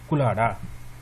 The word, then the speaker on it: کلہاڑا: پڑھ لوں گا کلہاڑا، کلہاڑا غلط ہے، کلہاڑا نہیں ہوتا، یہ والا ورڈ درست ہے کلاڑا۔ اسی طرح کے چند